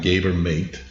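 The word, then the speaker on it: Gabor Maté: a guy named gabber mate I think I'm I'm going to say his name right but it's g a b o r m a t e but the E has a accent over it so I don't he's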